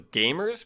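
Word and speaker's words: GVMERS: interesting it's called game i'm just going to pronounce as gamers but it's g-v-m-e-r-s they do um kind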